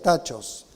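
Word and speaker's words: τάχος: 1 dice pronto pronto en el idioma originales tachos así se lo pronuncia tachos consulte el léxico griego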